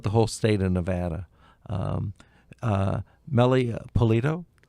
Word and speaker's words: Meli Pulido: Meli Pulido?